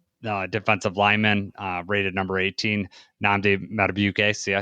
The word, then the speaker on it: Nnamdi Madubuike: And then Madubuike, defensive lineman, rated number 18, Nnamdi Madubuike.